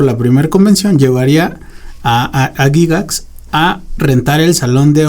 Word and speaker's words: Gygax: Que por cierto, yo sé que se pronuncia Gygax, pero no me gusta cómo suena Gygax.